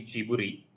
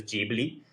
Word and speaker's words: Ghibli: I was reading that the way it's spelled in Japanese, it's actually Jiburi, but even when uh Haya Miyazaki, who's the co-founder and the honorary chairman, talks to audiences about it, he also says Jibli, so I'm comfortable saying Jibli.